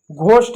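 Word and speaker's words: ghost: जैसे इसको आवर पढ़ेंगे, ऑनेस्ट पढ़ेंगे, घोस्ट इसको पढ़ेंगे। इसमें एच साइलेंट है।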